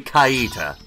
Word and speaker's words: Kaita: It's canonically Kaita.